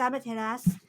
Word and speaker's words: Amaterasu: Technically, it's Amaterasu, but I'm very bad at forgetting to You're not supposed to pronounce the final U, and I keep forgetting that.